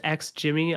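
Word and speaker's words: XGIMI: Yeah, it definitely seems like they're more in like the category of being like so it's pronounced X Jimmy.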